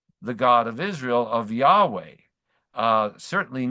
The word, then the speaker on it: Yahweh: by the name that probably the best guest in terms of pronouncing it is Yahweh as uh as as the